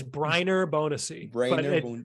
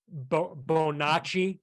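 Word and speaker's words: Brainer Bonaci: right I think it's I think it's Briner bonusy I only know that because we interviewed Eddie Romero and he said it right we we were butcher we were calling him like uh uh bo nachi like he's a Italian yeah like what are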